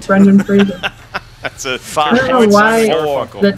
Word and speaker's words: Brendan Fraser: Rhymes with Razor, Brendan Fraser.